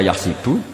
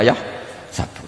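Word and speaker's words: يحسب: KAD waahsabu zaidun k karena dalam qiraah Sabah ada yang baca yahsibu qiraah kita baca yah sabu tapi guru-guru kita kalau ngajar fikih itu bacanya yahsibu tapi kalau baca Quran yahsabu ya kan Quran kita kan ayahsabu Alla yaqdir Alaihi Ahad Bukan dibaca Ayah sibuk saya teruskan jadi syarat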